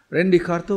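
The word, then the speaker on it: René Descartes: namanya Rin jika besarnya Rene Descartes Tapi bacanya Rendy Rendy kartu mempunyai pandangan kau gitu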